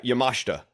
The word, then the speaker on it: Yamashita: uh pronunciation right yeah yamashta yeah it's like takeshita yeah I really didn't